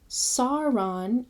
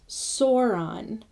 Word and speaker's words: Sauron: The next one is AU, which has a sound of English owl, in town. So Sauron is like sour, not Sauron.